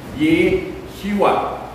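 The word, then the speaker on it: ישוע: Sa Hebrew, ang tawag niya Yeshua. Okay? Anong pronunciation yan? Yeshua.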